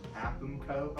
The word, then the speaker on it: AAPMCO: The acronym for the business is technically pronounced AAPMCO.